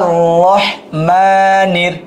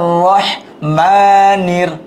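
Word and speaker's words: رحيم: আর রহমানির, আর হার উচ্চারণটা, আর রহমানির রহিম, রাহিম না, রহিম।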